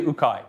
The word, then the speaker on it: UKAI: it's funny because it's UK AI when we're here a lot of people assume it's like UK AI or we have infinite pronunciation ation of this but this is actually ukai here uh ukai U is corant which